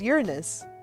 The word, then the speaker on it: Uranus: deke was smart to pronounce it as uranus so it's like hmm you're in us but uh back to